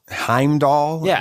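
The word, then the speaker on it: Heimdall: of the guy the the bridge Heim doll is how it's pronounced okay I I don't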